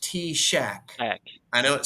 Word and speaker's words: TSAHC: weird it's TS a c yes but it's pronounced t- Shack I know it sounds completely crazy but but